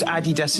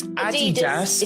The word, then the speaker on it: Adidas: Anyone who calls Adidas Adidas needs to be shot. And Nike Nike. It's Adidas.